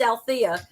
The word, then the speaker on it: Alethea: EA but it's pronounced ala there's that silent E I just think it's